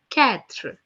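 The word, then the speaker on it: quatre: being pronounced as thwa four in French is being written down as q-u-a-t-r-e which is being pronounced as ketra Catherine Catherine okay five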